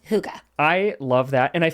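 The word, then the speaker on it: hygge: I said well but it's not pronounced like we would read it no it's Huga Huga which means what it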